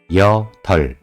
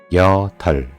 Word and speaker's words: 여덟: It has two consonants, but only 리을 is pronounced. 리을 is pronounced smaller to R or L. So, these numbers are pronounced like this. 여덜, 여덜.